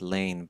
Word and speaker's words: Laing: Lane Rd Lang okay I think it's pronounced Lane but I'm really not sure the g at the end may be silent what is have you